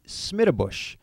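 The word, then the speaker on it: Schmiedebusch: That would be Smittabush. Difficult to pronounce and even more challenging to spell.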